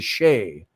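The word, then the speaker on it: sidhe: And while in Cornwall, in the southwest of England, they were sacred gentry known as the Pictsi, the Pictshi, S-I-D-H-E, the Shay, which is, Niall could tell you, an Irish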